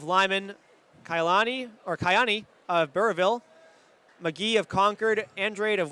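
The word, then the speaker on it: Burrillville: So it's it's there's you don't pronounce the L, right? Right. No, it's just Burville.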